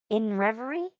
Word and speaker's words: INRVRY: So, um I've heard it said that you're supposed to pronounce the name of the band as uh in revery.